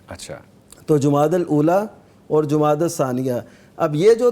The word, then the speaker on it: جمادی الثانیہ: دوسرے کو کہتے ہیں جمادی الثانیہ. عام طور پہ جمادی الاول جمادی الثانی جو کہا جاتا ہے, یہ اس کا تلفظ ٹھیک اصل جو آپ فرما رہے ہیں جمادی الاول اولا جمادی